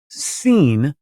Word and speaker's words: Sin: actually should be re you should pronounce it seen because it's actually this is actually the moon God oh well that is